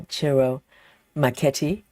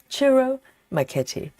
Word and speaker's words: Ciro Marchetti: Of course, today is our Chiro Maketi. I finally learned how to pronounce the name properly. I think it's pretty close. Chiro McKetti and um one of our favorite artists in